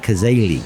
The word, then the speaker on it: Cazaly: But Lynne, I'm going to try to pronounce it with the accent, Cazaly.